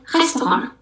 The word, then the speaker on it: restaurant: Contohnya adalah restoran. Restoran in English, tapi kalau in French yang kita bacanya restaurant.